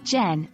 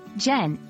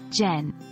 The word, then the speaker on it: gen: Learners make one mispronunciation it's pronounced like the beginning of genuine and not gen two overuse as with